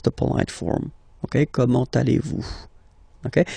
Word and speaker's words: comment allez-vous: So the first question, how do you do in French, is comment, so how, comment, allez-vous? And then, same thing here, little link between the two. Comment allez-vous? comment allez-vous?